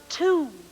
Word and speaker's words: two: another spy word and it is two two and the clue to two is shoe now our next one